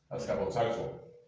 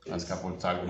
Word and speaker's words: Azcapotzalco: Azcapotzalco. Okay. Azcapotzalco.